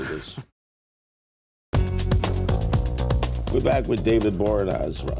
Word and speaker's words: Boreanaz: We're back with David Boreanaz. How do I pronounce it right? Boreanaz.